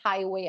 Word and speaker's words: highway: atau jalan tol Highway Jadi kalau ada GH begini Itu enggak usah dibaca Jadi enggak usah dibaca jadi kayak hike gitu Tapi bacanya Highway aja jadi kayak tulisannya tuh